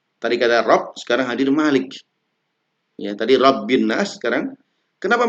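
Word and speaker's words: مَلِكِ: Kata Malik ya bacanya pendek ya Malik. Kalau di Alfatihah itu panjang Maliki. Meskipun ada beberapa bacaan Malikinnas pendek tapi di Annas ini bacanya pendek.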